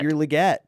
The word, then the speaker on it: Legette: yes we get gonna be the wi it's pronounced Le get I'm getting that right finally it's liette this is this is this is the this